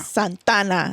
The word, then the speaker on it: Santa Ana: Ooh, Santa Ana. Santana. That's how you say it.